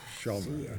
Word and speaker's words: Schomer: Oh, Schomer, okay. It's variously pronounced either Schomer or Schumer, and I'll respond to both.